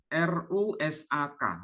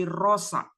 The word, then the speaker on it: rosak: menyebutnya dengan istilah eh contoh konkritnya itu rusak r u s a k rusak sementara di Malaysia menyebutnya bukan rusak tapi rosak kalau kita misalnya menyebut